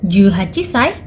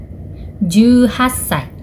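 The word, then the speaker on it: じゅうはっさい: 18 dalam bahasa Jepang adalah juhachi. Maka usia 18 tahun dalam bahasa Jepang adalah juhachisai. No, juhassai. 19 dalam bahasa Jepang adalah jukyu.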